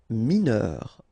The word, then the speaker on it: mineur: Mineur, E-U-R, heure, mineur, mineur.